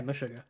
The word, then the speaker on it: Meshuggah: Am I pronouncing that right? Yeah, Meshuggah.